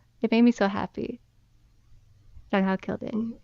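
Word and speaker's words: Zhang Hao: I think it's pronounced like a J, Jonghao, I even though just there's put a Z.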